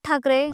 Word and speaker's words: Thackeray: टी एच ए सी के इ आर ए वाय या spelling नुसार त्याचा उल्लेख ठकरे असा होतो ठाकरे या उच्चारानुसार स्पेलिंग कसं पाहिजे होतं टी एच ए के ए आर इ पण ठाकरे आनावाच स्पेलिंग